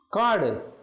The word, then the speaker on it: காடு: காடு கே சவுண்டில் வருகிறது.